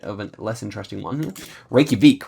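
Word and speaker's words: Reykjavík: a little bit of a less interesting one Reykjavik right I think you have to pronounce it like that but okay um actually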